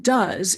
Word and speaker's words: does: And the O in does is pronounced but in do, the base, when the base element forms a word by itself, it's pronounced oo.